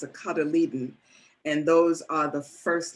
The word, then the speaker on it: cotyledon: Doesn't look like how it's pronounced, but it's a cotyledon.